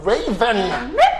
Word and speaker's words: Rayven: It's similar spelling to the bird, but I there is know, a but Y in between there. I know, but the Yeah. pronunciation is same as the bird.